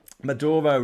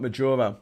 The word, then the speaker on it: Maduro: name it won't matter maduro not majora madoro okay can you